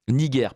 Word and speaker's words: Niger: roman locus niger Niger Niger pardon Niger parce qu'on prononce à la la latine c'était un G dur d'accord locus niger ou